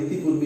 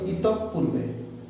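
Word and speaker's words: ইতঃপূর্বে: এইটার উচ্চারণটা দেখো, এটা হতো ইতঃ পূর্বে। হ্যাঁ, উচ্চারণটা হচ্ছে ইতঃ পূর্বে। আমরা ইতিপূর্বে ইতিপূর্বে বলি বলে এটা ভুল হয়।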